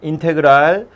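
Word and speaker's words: integral: 읽을 땐 인테그랄이라고 읽어요. 전혀 상관없게 생겼지만 인테그랄이라고 읽습니다. 인테그랄 fx dx, 이게 미분하면 fx가 되는 놈이라는 뜻의 기호예요.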